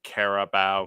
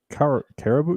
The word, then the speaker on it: Carabao: So yeah, No, this was the Caribou. Yeah, the Caribou Cup, or Carabao. how do you say Carabao? Carabao.